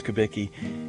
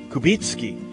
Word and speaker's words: Kubicki: Hello, I'm Father Kubicki, and that's not really how my name is pronounced in the land of my ancestors. There, in Poland, it's pronounced Kubicki.